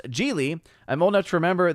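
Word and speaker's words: Gigli: Odin, it was pronounced Geely.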